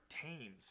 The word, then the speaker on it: Thames: Eric Thames. I don't know how to say this guy's. Is it Thames? I think Thames, I've Thames, heard Thames and Thames. The River Thames? if we're going by that pronunciation.